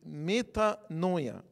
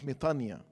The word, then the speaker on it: metanoia: Repentance is, in Greek, is metanoia. Sometimes we pronounce it metania.